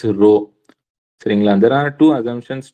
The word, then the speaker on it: rho: It is denoted by symbol RS or the Greek letter and pronounced as rho.